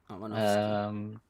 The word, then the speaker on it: Aronofsky: Aronofsky. Aronofsky. Perfect pronunciation, Arn.